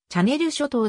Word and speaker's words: チャンネル諸島: 海峡に浮かぶ島々英語の発音により近い表記はチャネル諸島ではあるが日本では慣例的にチャンネル諸島と呼ばれることが多いジャージーしま